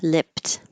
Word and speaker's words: lipped: This is weird because the ed d sounds like a t lipped, but you won't hear that final t if it's at the end of the sentence or phrase or there's a consonant after it.